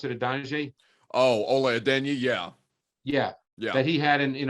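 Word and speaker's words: Ola Adeniyi: And that was actually the sack that Adonijah had. Is that how you pronounce it, Adonijah? Oh, Ole Adenyi, yeah.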